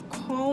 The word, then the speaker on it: Kohl: So the name is Call Me Beautiful, but the call is spelled KOHL. Call Me Beautiful.